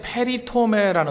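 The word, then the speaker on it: περιτομή: 그 헬라어로 할례라는 게 페리토메라는 단어입니다. 페리토메. 그러니까 발음 그대로 읽으면 돼요.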